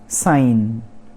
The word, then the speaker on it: sign: साइन। साइन, SIGN, यहाँ पर G साइलेंट, तो SINE लिखा है, तो मतलब साइन, या फिर सीन बोल देंगे आप लोग।